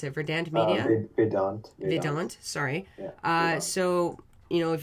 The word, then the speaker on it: Vedant: Well, did you want to talk more about is it Verdant? Or how do you pronounce it? Verdant Media? Vedant.